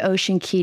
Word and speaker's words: Ocean Cay: welcome I've been to Ocean Key twice and it is pronounced key I believe ocean key